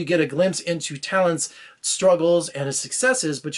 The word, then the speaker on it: Thalente: it's really funny because his name is spelled funny and you know I was in my mind I had to relearn that he was name was Talent you know how you pronounced it so all right for